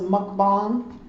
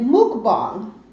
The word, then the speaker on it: mukbang: videos probably incorrectly because I thought it was mukbang but I checked with someone who's Korean when I asked them and they pronounced it Mook bomb so you guys are